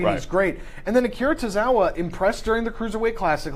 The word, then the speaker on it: Akira Tozawa: Neville and Akira Tozawa. Did I pronounce that right?